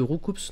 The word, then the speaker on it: Roucoups: Le S de Roucoups ne se prononce pas normalement, parce que c'est du pluriel. Roucou, mais du coup on dit quoi? Roucou ou Roucoupe?